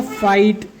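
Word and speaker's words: fight: तो ये आई आया, उसके बाद क्या आ गया GHT, तो GH उसमें साइलेंट रहेंगे और T को इसमें पढ़ेंगे, तो हो जाएगा फाइट, हो जाएगा नाइट, हो जाएगा राइट, हो जाएगा लाइट, हो जाएगा माइट, और ये हो जाएगा टाइट।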